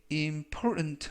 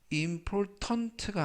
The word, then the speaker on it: important: 이때 important 하면 중요한이라는 형용사가 되겠고요. 이때 발음에 유의하실 것은 T 발음이 묵음은 아니지만 거의 발음이 되지 않습니다. 그래서 important가 아니라 important 라고 발음하시면 좋겠습니다.